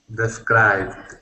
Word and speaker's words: described: me please describe it described it's we don't pronounce the e d on the end like like you do in Spanish scribed described perfect yes good and